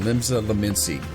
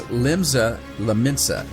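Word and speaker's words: Limsa Lominsa: Okay, speak with Baderon at the Drowning Wench in Limsa Laminsi. I always say that wrong. It's Limsa Laminsa, and I always say it wrong.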